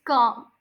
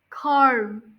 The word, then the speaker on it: calm: one we have is Cal calm listen up there there's a silent letter this word Cal which one is it l don't say Carm k no K Cal instead of calm you